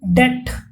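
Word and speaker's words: debt: देखेंगे टू बी इन डेट तो यहां पर आपका बी साइलेंट है डेट का मीनिंग होता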